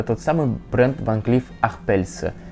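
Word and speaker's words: Arpels: Да, это тот самый бренд Ван Клифф Арпельс. Арпельс, не Арпельс, все-таки бренд имеет французское происхождение, давайте уважать французское произношение, даже если кому-то кажется, что это английский бренд.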